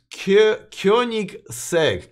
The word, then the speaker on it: Koenigsegg: so Alex e says no it's pronounced as Koenigsegg Kunik sake Koenigsegg all right fine I